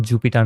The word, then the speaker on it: Jupyter: এটার ফুল উচ্চারণটা হবে এরকম, জুপিটার নোটবুক। এটা আমরা ডাটা সায়েন্স এবং